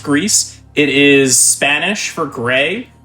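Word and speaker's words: Gris: so uh this is greece uh g-r-i-s it is not pronounced gree i know that's a big issue right off the bat pronounced greece it is spanish for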